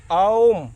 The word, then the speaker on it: ॐ: जरा सा ध्यान दीजिए ओम अ उ और म औम इसी ओम के पहले